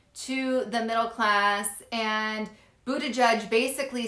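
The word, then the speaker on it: Buttigieg: times so anyways his um it is pete buddha judge anyways he's talking to pete he basically calls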